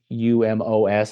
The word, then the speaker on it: Thumos: And again, Thumos is spelled just like it sounds, Thumos.